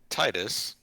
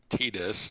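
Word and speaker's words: Tidus: you have deep knowledge of yes I will Titus not tetus no matter how characters in other games might pronounce it out loud because that's stupid yeah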